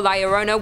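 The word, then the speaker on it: La Llorona: fangs and even claws in and number two Larona hailing from Hispanic folklore Liona which I'm pronouncing correctly now after you guys yelled at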